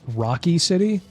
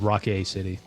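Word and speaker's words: Rockay City: So I assumed it was called Crime Boss Rocky City, but no, it's actually called Rock A City.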